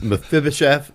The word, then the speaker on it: Mephibosheth: I think that was your South Dakota accent coming out, and it's Mephibosheth, and everybody pronounced it like that except for Matt.